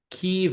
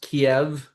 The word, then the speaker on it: Kyiv: Once I learned that Kyiv is not pronounced Kiev when I was in Ukraine, it's hard for me to hear Kiev anymore.